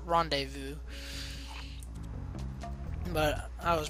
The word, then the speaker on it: rendezvous: I used to always call that word rendezvous when I was younger. Yeah, I know it's not rendezvous, it's rendezvous.